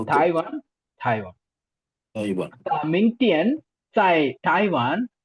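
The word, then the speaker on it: 台湾: அடுத்தது Taiwan Taiwan. Again நீங்க டி வர்றதுனால இட்டு சவுண்டு ஸ்ட்ராங்கா.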